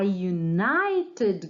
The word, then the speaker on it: United: O primeiro som corresponde a uma consoante, é como se nós estivéssemos pronunciando isso aqui, ó, Y. Então, there are a united group.